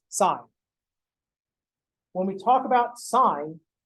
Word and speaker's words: sin: now when we write the abbreviation for sine is s-i-n which we pronounce as sine when we talk about